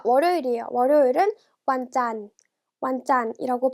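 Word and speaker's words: วันจันทร์: 금방 같이 해 볼게요 자 월요일이 에요 월요일을 완 짠 왔잖 이라고 발음하고 요 여기 나와 2 첫 1관 어려워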